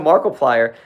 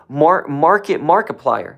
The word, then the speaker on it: Markiplier: Shout out to Markiplier. How do you pronounce his name? I want to say it the right way. People say his name differently sometimes. Markiplier.